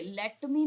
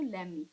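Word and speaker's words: let me: there लेट मी know देखिए लेट मी know नहीं बोलते हैं इसका टी जो होता है वो साइलेंट में चला जाता है ब्रिटिश इंग्लिश में जाते हैं जब बोलते हैं तो इसको एक साथ प्रोनाउंस करेंगे तो उसको लेम मी ठीक है ले मी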